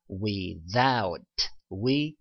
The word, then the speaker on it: without: 자, th 발음이 또 어떻게 발음되냐면 the 소리로 아까 thank you 할 때 번데기 발음 the 발음 나기도 했지만 이 경우에는 the라고 발음이 되기도 한답니다. 그래서 without 이렇게 발음되죠.